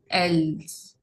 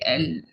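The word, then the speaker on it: elles: The last consonant is usually silent. Vous, else. You don't say else, you say L.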